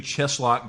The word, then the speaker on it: Cheslock: sulock dcom cheslock decom and it's spelled just like it sounds yep it sounds really scary but it's c h s l o c k it sounds like a a medieval torture device and I like it